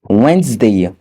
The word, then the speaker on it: Wednesday: La lettre D n'est pas également prononcée dans les mots tels que sandwich, le sandwich, Wednesday, le mercredi, handsome, bant à la